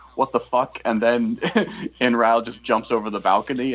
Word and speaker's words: Inrau: How do you pronounce his name? Inrau. Inrau.